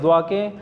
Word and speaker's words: দোয়া: তো এটা আসলে সবগুলো এই দোয়াকে বাংলায় যে আমরা জোয়া লিখে ফেলি, আসলে এটা কখনোই হবে না। এটাকে দ্য ল্যাঙ্গুয়েজ অফ অ্যারাবিক, এটাকে দোয়া, এটা স্পেশালি এটা আরবদেরও অনেকের উচ্চারণ করতে অনেক কষ্ট হয় অনেকের।